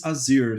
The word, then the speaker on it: Asyr: it correctly they're like is it easier is it ozier what should I it was like it's azir so yeah you can say easier if you like I don't